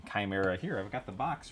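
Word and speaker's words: Khymeria: Look up the um It's spelled weird, but it's like K H Y M E R I A. Chimera.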